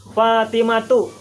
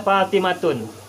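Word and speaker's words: فاطمة: munshorif kecuali Hindun sendirian Itu sebabnya Fatimah itu pengucapannya dan penulisannya adalah fatimatu tidak boleh fatimatun hoodie jatuh tidak boleh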